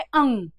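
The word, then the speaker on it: ङ: है अगर जो भी अण या फिर ड का उच्चारण कर करते हैं वो शत प्रतिशत गलत है अपने उच्चारण में सुधार करें और इसका सही उच्चारण क्या है वो है अंग इसका सही उच्चारण क्या है अंग च वर्ग में च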